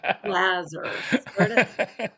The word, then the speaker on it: Laser: And so I said, Jazzer, rhymes with Jazzer, Lazar.